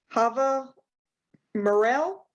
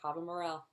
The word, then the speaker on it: Chava Mirel: Miss Chava, correct? Chava Mirel? That's right. You said it right. Chava Mirel.